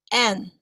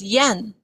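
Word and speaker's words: 円: The Japanese pronunciation of the word circle is en. And you might have heard the Japanese currency as yen. It is the same pronunciation.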